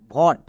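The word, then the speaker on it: vote: তাহলে এর উচ্চারণ কি দাঁড়াবে? VOT, ভট।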